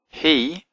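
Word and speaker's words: היא: He, even though it's got a vav in it, it's got the hirak, so it's actually pronounced he.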